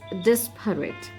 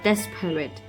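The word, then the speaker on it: disparate: different desperate very different oops i'm sorry i just realized that i pronounced this word it's desperate not desperate that that is a d-a-s this but this is d-i-s so it's this parrot next we have lethargic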